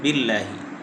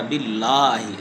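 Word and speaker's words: بالله: আর দ্বিতীয় নাম্বার ভুল হলো আমরা বিল্লাহি। আউজুবিল্লাহি। মোটা করে পড়ি। আউজুবিল্লাহ বলা যাবে না। আউজুবিল্লাহ। পাতলা করে পড়তে হবে। লামটাকে মোটা করে পড়া যাবে না। পাতলা করে পড়তে হবে।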